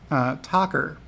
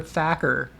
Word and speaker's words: Tacker: And it's Tacker. That's what it is. Tacker is how they pronounce the last name. So don't believe him when he pronounces his name Meyer Thacker. It's actually Mayor Tacker.